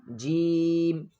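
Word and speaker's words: ج: The middle of the tongue touches the roof of the mouth. Then release. Jim.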